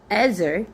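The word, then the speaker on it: Ezer: Ezar.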